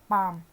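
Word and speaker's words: palm: ठीक है, वैसे ही हो गया पाम। अब देखो पी भी स्ट्रोक है, एम भी स्ट्रोक है, इसके बीच में क्या है, ये वॉवल। ठीक है, और एल क्या है इसमें, साइलेंट।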